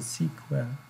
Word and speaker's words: SQL: have SQL or sequel that will be proud pronounce it as a sequel it's a standard and we have some application